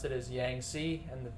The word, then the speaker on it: Yangtze: you pronounce it is yang c and so the t is basically silent um this is actually